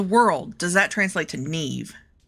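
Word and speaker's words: Niamh: Now, let me tell you, Professor Fitzgerald, her name is Neve Ne, like you know, Nev Campbell or whatever. But, um, it's spelled because she's Irish. N, sorry, N I A M H.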